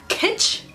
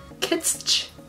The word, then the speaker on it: kitsch: die for this packaging pitch is that what the how it's pronounced kits kits pitched kits pitched why am I saying L he gets three syllables pitch kits Shh like stitch but pitch how do you say